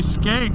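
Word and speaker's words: Schank: place called mount shank but it's spelt n s-c-h-a-n-k and you say school it's s c h o l so they say schools i don't always say skag mount skag it just makes sense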